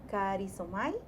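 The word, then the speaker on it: χαρίζομαι: Dentro de lo que es los diccionarios bíblicos, encontré que la palabra perdonar viene de la palabra griega y se pronuncia karizomai y significa perdonó, perdonándonos, concedido, mostrar favor y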